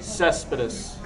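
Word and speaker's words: Céspedes: Yoenis Cespedes, outfielder for the How do you Oakland pronounce A's. that name? Cespedes.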